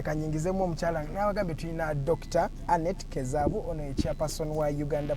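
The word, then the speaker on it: Annette Kezaabu: Is that the right pronunciation? That's it. Dr. Anneette Kezaabu.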